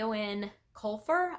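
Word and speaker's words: Eoin Colfer: read is the Artemis Fowl series by a Owen colfur I believe is how you pronounce that and there are eight books in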